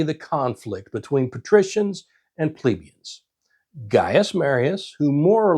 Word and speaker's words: plebeian: the common class, the plebeians, which I grew up hearing pronounced plebeian. But lately, I've heard a lot of folks pronouncing it plebeian. So, I'm going to say plebeian.